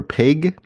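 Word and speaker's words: Peig: There's Mila as well, but the other main character is Pig or Peg, I think it's how you say it, but it's P E I G Peg, played by Brid Ni Nectane.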